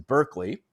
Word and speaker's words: Berkeley: talk about um well i guess it's pronounced barkley but you know most of us pronounce in berkeley okay another british empiricist